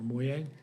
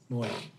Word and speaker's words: Moy: Danielle Moy, or Moye? Moy. Come on, ma'am. Welcome. And Moy is the correct pronunciation?